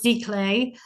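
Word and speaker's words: giclée: FR fancy French um spelled g clay but pronounced Z clay um this is used to produce pieces of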